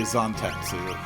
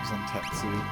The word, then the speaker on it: Zantetsu: Guess I'm gonna have to train myself to say Zantetsu. Zantetsu.